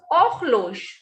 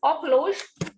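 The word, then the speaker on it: horloge: Next is ochlosh. H will not be pronounced. And whenever E is at the end, it has no sound. So this is ochlosh, meaning is wall clock.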